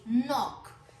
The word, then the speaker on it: knock: यहाँ पर भी जो आपका खे है वो हम नहीं बोल रहे, उसका साउंड नहीं बोल रहे। वाई? बिकॉज यहाँ पर वो साइलेंट है, वर्ड का हिस्सा है लेकिन उसका साउंड नहीं हम बोलते।